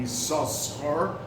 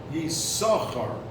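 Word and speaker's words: יששכר: every time after that does not pronounce his name Yisachar like when he was born, but it's pronounced Yisachar, just one sin or shin, as the letter is.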